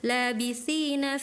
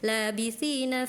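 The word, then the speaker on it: لابثين: Labitina fiha ahqoba. Harusnya seperti itu. Ahqoba. Tadi kakak bacanya laitina fiha ahqoba.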